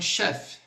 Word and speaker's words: chef: Então, outra palavrinha aí, un chef. chef, igual o nosso chefe, só que no francês nós vamos terminar no F.